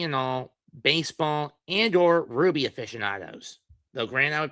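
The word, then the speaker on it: RWBY: The rights owners to Ruby, spelled RWB Y, not RUB Y, cuz man is an acronym, not the name of the gem.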